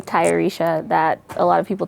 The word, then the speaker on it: Tayarisha: I have a name, Tayarisha, that a lot of people tend to mispronounce, which is partially why I named Selah Selah.